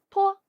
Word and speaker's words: p: 这个字母的读音和爬山坡的坡很像，读的时候也是要把坡这个读音读得又轻又短，请大家